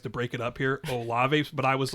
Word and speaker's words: Olave: He said, by the way, you pronounced, okay, so the, Oh, he's going to say Chris Olave.